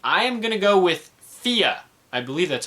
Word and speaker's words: Fe: I am gonna go with Fia. I believe that's how it's pronounced. I thought it was Faye or I thought it was Fee, but I believe it's pronounced Fia.